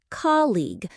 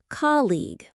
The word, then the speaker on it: colleague: The pronunciation is colleague, like coal plus eig. The stress is on the first syllable. Colleague. Colleague.